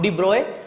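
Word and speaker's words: de Broglie: यहां पे एक इंसान आया, नाम डिब्रॉय, स्पेलिंग अलग है, प्रोनाउंसिएशन है डिब्रॉय।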